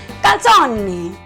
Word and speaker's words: calzone: So you say calzone. Well, a calzone is basically a pizza that is folded into half.